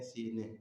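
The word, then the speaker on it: سینه: کوئی فرق نہیں ہے۔ ہم کہتے ہیں سینہ، فارسی والے کہتے ہیں سینے، ٹھیک ہے جی۔ اس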